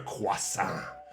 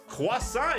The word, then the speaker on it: croissant: we are the croissant makers we make the quasa that is pronounced this way let's ask google okay let's